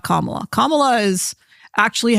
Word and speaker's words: Kamala: different ways um so I remember her putting the emphasis on the second syllable so it was like Cala Kamala Cala was how she pronounced it not Kamala not Kamala Kamala is actually how Indian